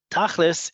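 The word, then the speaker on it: תכליס: Tachlis is the Ashkenazi inflection on the word tachlit, right? Because in Ashkenazi Hebrew, certain letters are pronounced certain ways, certain vowels are pronounced differently than in modern Hebrew, and it comes out as tachlis.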